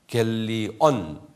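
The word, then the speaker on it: εὐαγγέλιον: 유앙, 이응이에요. 유앙겔리온, 니은이요. 유앙겔리온. 한번 발음해 보세요.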